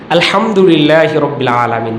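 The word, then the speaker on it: الحمد لله رب العالمين: সকালেও বলতেছিলাম একটু মশক করার চেষ্টা যখন তখন আলহামদুলিল্লাহি রাব্বিল আলামিন বড় হা শক্ত করে পড়তে হয় একটু এই হা উচ্চারণ করে যদি পড়ে তাহলে সঠিক অর্থ হয়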